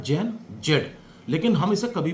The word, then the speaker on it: Gen Z: और ये लिखा जाता है जैन जेड। लेकिन हम इसे कभी भी जैन जेड प्रोनाउंस नहीं करते।